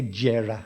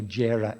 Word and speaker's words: Gera: movement was lucio herrera they say jarrah i think lucio jera in in spanish pronunciation but i'll say lucio herrera